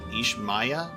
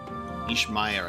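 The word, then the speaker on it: Ishmaya: IMA sorry was that how do they pronounce it it's ish Maya ish Maya I think indeed we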